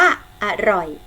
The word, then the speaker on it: อร่อย: เอา ไป คำ ว่า อร่อย อร่อย ๆ สังเกต นะ คะ พยางค์ แรก ออก เสียง อะ กึ่ง เสียง พยางค์ ข้าง หลัง จะ ออก เสียง เหมือน มี หอ หีบ มัน นำ ค่ะ ทำ ต่อ ไป ค่ะ